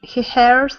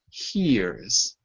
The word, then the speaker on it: hears: Is it hers or hears? Ksenia. Hears. Hears. Just like come here, it's the same pronunciation.